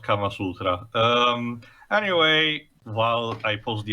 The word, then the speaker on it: Kama Sutra: Also, technically speaking, it's pronounced Kama Sutra.